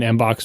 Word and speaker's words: mbox: I exported it from, Claris email or whatever the hell I was using then in Mbox format. And then it's pronounced box, rhymes with mbop.